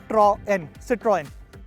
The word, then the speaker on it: Citroën: And lastly, how to pronounce the name correctly? Well, it's very simple. It's Citroën.